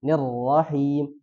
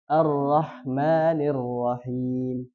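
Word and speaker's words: الرحمن الرحيم: ya tapi jarang yaitu di huruf nunnya arahmani tapi dia bacanya arahmanirir Nir paham ya harus ni arrahmanir Nir Nir ya nirrahim bukan arrahmanirrahim sama juga him yang asinya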